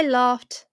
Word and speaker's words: laughed: It's a T sound. Laughed. If you remember, it ends with H. And so it will have the T sound.